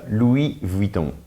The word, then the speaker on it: Louis Vuitton: Chanel you have di one that people often don't know how to pronounce correctly is what we call in English Louis Vuitton how do you say that in French actually so uh Louie Von Von so it's a little